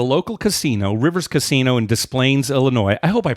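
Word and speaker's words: Des Plaines: casino Rivers Casino in displays Illinois I hope I pronounce that you know it's so funny because no it's with an S it's displays but I the thing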